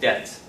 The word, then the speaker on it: debt: about that index depth no debt B is non-pronounced so if the money